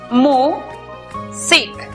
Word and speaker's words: music: La primera sílaba es abierta porque termina en vocal. Por lo tanto, aplicamos el sonido abierto de la vocal u, miu. La siguiente sílaba es cerrada porque termina en consonante. Por lo tanto, aplicamos el sonido cerrado de la vocal i, sic. La pronunciación para esta palabra es music.